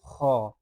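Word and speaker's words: خ: খলকের শেষ ভাগ হইতে ভালোভাবে উচ্চারণ করে নিবেন।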